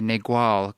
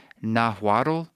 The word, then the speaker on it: Nahuatl: I always say Nahuatl, sort of like Carlos Castaneda, but I think it's like Nahuatl.